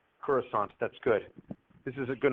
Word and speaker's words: Coruscant: It's got a soft C there at the end. Coruscant.